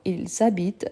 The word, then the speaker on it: habitent: N'oubliez pas de faire la liaison parce que la liaison, c'est avant le voyelle et le H muet. Donc, ils habitent à la cité universitaire.